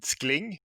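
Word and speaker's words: Scling: albertchon i'm founder of startup named skling pronounced in english s-c-l-i-n-g we are providing a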